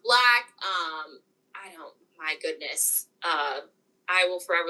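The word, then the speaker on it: 6LACK: I love 6 pronounced Black.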